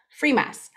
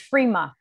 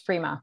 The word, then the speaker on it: Frimas: yeah no actually it's frima we don't we don't pronounce the s in french so it's frima but everyone says free musk so don't worry about